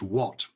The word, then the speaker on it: what: this lady had was take the word what why is it pronounced what when you take the letters h a t on their own they're pronounced hat put a w in front of it and suddenly it becomes what that's a really good